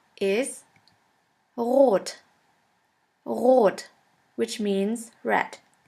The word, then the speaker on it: rot: In order to pronounce this letter right, you have to gargle in the back of your throat until it starts to vibrate. R. R. Now try. That is how we officially pronounce the German R, but in some region in Germany we also use the Spanish R.